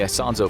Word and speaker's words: Isonzo: During his many fruitless assaults on the Isonzo Front (pronounced I-SAWN-ZO), troop morale was low due to high casualties and nothing to show for it.